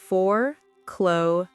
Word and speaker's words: foreclosure: Pronunciation forcloure. Note the S sounds like in the word vision.